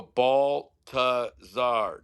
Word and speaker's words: Baltazar: How can I get the ultra white, white bread people here that pronounce Baltazar? It's such a tough name. Yeah, yeah, So I would go Baltazar.